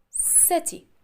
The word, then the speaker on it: city: But if it's followed by letter I, E, or Y, you have to pronounce it as letter S. S. S. Letter C will be sounds S, like this word. Letter C, and after letter C, letter I. So we said city.